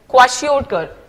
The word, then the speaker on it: kwashiorkor: What is the pronunciation of that? That is kwashiorkor.